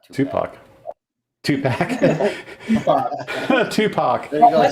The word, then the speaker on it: Tupac: Oh, by the way, Hoosier, it's pronounced Tupac, not Tupac.